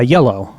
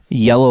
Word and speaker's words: Iello: if you live there yellow like the color um i e l l o interesting which uh I believe is pronounced yellow so King of Tokyo